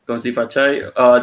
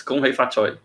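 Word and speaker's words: 恭喜發財: Gongxi Fachai. That is in Mandarin. So in Cantonese is Gong Hei Fa Choi.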